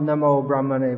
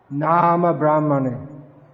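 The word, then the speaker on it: नाम ब्रह्मणे: It's not Namo Brahmane Vaishnava. It's nice to offer respects to Brahman, but here Nama Brahmane means unto the holy name.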